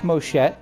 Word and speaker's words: Moschet: okay head Cannon Jack moshet is pronounced that way using the Japanese naming convention and he is the